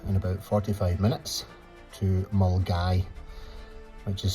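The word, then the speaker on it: Milngavie: Anyway, we're going to head off in about 45 minutes to Mulgai, which is spelled Milan Gabi, but pronounced Mulgai.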